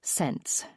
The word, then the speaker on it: Sense: The family surname is Sense, pronounced like sense.